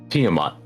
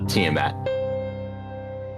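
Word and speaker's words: Tiamat: Tiiamat, cuz to me, I've always pronounced it Tiiamat. not tmat.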